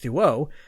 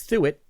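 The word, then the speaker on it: Thuot: three pierre the it through it is another pronunciation that i have to correct his name is spelt t h t-h-u-o-t so i went with duo but nope it's through it oh well we last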